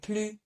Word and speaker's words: plus: But for more and then an adjective, we do not pronounce the S either. So if I wanted to say more big, I would say plus grand, okay?